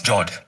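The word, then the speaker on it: fjord: The next one is Jord. The F word is silent when you pronounce it.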